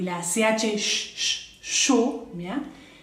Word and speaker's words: chaud: Avoir mal, avoir chaud, tener calor, chaud, es que la D no la pronuncio, y AU es sonido O, chaud, y la CH, chaud, ¿bien?